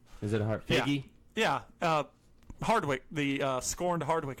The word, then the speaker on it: Feige: It's a hard G. Is it a hard? Feige?